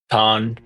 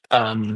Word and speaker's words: Ton: Con. His name's Con. Con. on the scene, the deity. Con. Ton. Oh, Con. okay, so it's a fatty. And Yeah, spelled like ton.